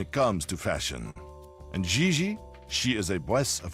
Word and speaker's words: Xi: On FR, you pronounce G like J and J like G. She may very well be JJ in America, but in France she is Xi.